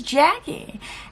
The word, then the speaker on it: Jacqie: If you're new here, my name is Jacqie, and yeah, I know it's spelled weird with a Q, pronounced with a K, but it is what it is.